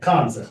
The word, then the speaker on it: Kanza: I it has a it has a different pronunciation with an n and z in it okay Kanza okay to make sure